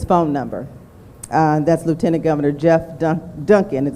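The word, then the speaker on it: Geoff: That's Lieutenant Governor Jeff Duncan, and his name is spelled with a G, G-E-O-F-F as in Frank.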